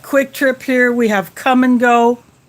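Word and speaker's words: Kum & Go: our we have quick trip here we have come and go it's spelled k-u-m then n then go geo that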